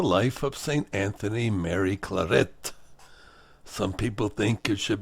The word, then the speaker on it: Claret: Anthony Mary Claret. Some people think it should be pronounced Claret, but he was Spanish, not French, and the Spanish pronounce it Claret.